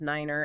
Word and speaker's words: niner: some numbers have specific pronunciations too. Oh, really? Like 3 is tree, 9 is niner, and 0 is 0.